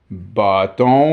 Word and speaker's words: bâton: Vu qu'on avait commencé à le dire bâton au lieu de baston, on a mis un accent circonflexe. So, since people had started saying bâton instead of baston, they put a circumflex accent.